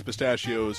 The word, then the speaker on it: pistachio: Pistachio. It's kind of like saying mustachio, like a villain with a mustache. Mustachio! Except with a P.